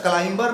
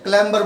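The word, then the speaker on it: clamber: से चढ़ाई करने वाला समझ में क्लाइंबर नहीं बोलते क्लैंबर बोलते हैं मतलब पहाड़ वगैरा पर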